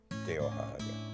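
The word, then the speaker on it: Tehohahake: Teohahake. That's spelled T-E-H-O-H-A-H-A-K-E.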